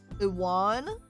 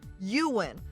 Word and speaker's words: Iwan: Iwan? Interesting name. Oh, no, it's pronounced Ewan.